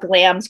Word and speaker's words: Glamis: platform we're on but glam's calling it's spelled glamis g-l-a-m-i-s calling it's pronounced glams though is a message board